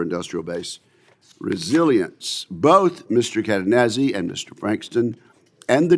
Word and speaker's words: Cadenazzi: Mike Cadenazzi, Assistant Secretary of Defense for Industrial-Based Policy, and sir, I hope I pronounced your name exactly correct. You did, absolutely. Cadenazzi, okay.